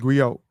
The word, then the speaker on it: griot: just give it the the gri is pronounced Grio um a gri can